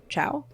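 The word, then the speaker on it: Chau: Chow? It's Chow, but it's spelled the Cho.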